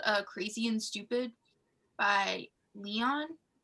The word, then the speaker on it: Leon: crazy and stupid by leon l-e-o-n yeah and that's how you say it um i remember like